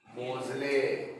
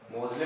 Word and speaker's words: Moseley: मोजले, मोजले पता नहीं क्या बोलोगे? मोजले बोलोगे, मोजली बोलोगे?